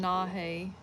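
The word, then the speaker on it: Leenahheh: Lee, L-E-E, Nah, N-A-H, He, H-E-H. Is that how they said to say it? Yes, that's how you pronounce it. That's the pronunciation. Lenahe.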